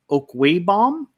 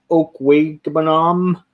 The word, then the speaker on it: Okwuegbunam: We've seen Okwuegbunam. Did you say Banam like the snowman? Yeah.